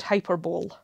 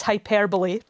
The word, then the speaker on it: hyperbole: is it's pronounced hyper i can't think of another example where you stress the second syllable rather than the first but you know hyperbole